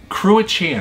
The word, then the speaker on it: Cruachan: Well, Cruachan, I think is how you pronounce their Irish name.